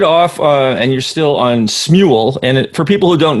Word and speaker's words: Smule: I say Smule. Like singing mule? Say how to say it. Like a singing mule.